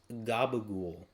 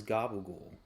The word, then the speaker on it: gabagool: What is gabagool? Like, actually, you know what? I'm gonna see if this is an actual like meat. Oh, it's just It's an Italian American slang pronunciation for capicola, which is a traditional